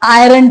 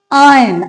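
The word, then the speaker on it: iron: हम यही बोलते हैं इस वर्ड को। That's incorrect. इसका करेक्ट वर्जन होता है आयरन। आर तो इसमें साइलेंट है। राइट? तो इसको आज के बाद आप आयरन मत बोलिए। इसको पढ़ा जाता है आयरन।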